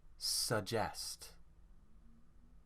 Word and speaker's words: suggest: Here the stress is on jest. Suggest. Suggest.